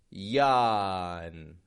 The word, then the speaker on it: yawn: But we want to be careful here, not to get a j, but a y. Yawn, yawn.